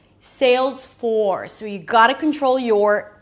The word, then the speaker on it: Salesforce: The secret here is to make sure that the vowel is pronounced clearly before you bring the tongue up for the R.